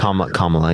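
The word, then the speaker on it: Kamala: don't know I think how do you say her name kamla yeah it's comma yeah comma okay I said her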